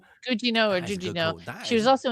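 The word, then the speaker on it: Gugino: Um a Jujino, is that what it was, Sandy? Is that what you said? Gujino. Guino. Gujino or Jujino?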